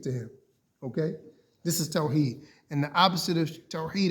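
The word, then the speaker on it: Tawhid: Tawheed is everything to the Muslim.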